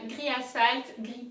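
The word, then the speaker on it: gris: pronounce gray first so gray in french is gri so like for noir and you have to really emphasize the r it has to come from deep down so first so a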